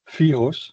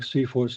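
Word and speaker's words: CFIHOS: facility information handover specification, that is an acronym to pronounce FIOS, something like that. So we came to the conclusion that it should be something like CFOS, and that is what everybody says.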